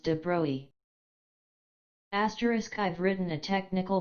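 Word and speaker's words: de Broglie: out as an aside that de broy is pronounced debris asterisk I've written a technical book suitable for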